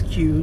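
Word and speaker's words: Que: My name is Q. That's spelled Q-U-E.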